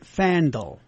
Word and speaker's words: Fandal: He pronounces it Fandal.